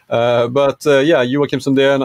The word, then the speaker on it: Joakim Sundén: Well, first off, my name in Swedish, it's actually pronounced Joakim Sundén. Joakim, but it's, you know, you did a pretty good job. English speakers, native English speakers have even more difficulty understanding the J.